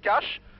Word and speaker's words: Kaş: Je suis à Yavigoyou, au nord-est de la ville de Kaş. On dit Kaş, mais ça s'écrit K-A-S avec une cédille en dessous.